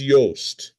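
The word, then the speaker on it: Johst: Hans Yoast, that is spelled jo failed Nazi playwright said that whenever he heard the word culture, he reached for his revolver.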